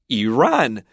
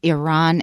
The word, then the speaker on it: Iran: The educated pronunciation is Iran and Iraq. But my impression is if you listen to soldiers coming back from those areas, they say Iran and Iraq.